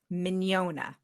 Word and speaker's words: Mignogna: first thing is is we need the pronoun proper pronunciation of your last name it is minona oh I was close